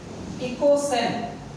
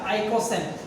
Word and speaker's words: ইকোসেন: এবং সেটা আগে বলে দিই, সেটার যৌগের নাম হচ্ছে ইকোসেন বা কেউ কেউ উচ্চারণ করে এটা আইকোসেন।